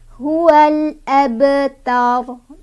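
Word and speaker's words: هُوَ الْأَبْتَرُ: Di sini ada qalqalah sugro ya. Karena sebabnya ada huruf qalqalah yaitu ba yang sudah sukun dari asalnya. Nih, ba-nya sudah sukun. Cara bacanya memantul tapi pantulannya kecil aja, nggak usah ditahan ya. Huwal abta. Huwal abtar. Nah, gitu ya. Jadi ba-nya jangan terlalu ditahan juga karena ini ada di tengah kalimat.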